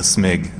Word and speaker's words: Smig: guest is sanity bit you could also say my name as a smig sort of like you're sneezing you know a smig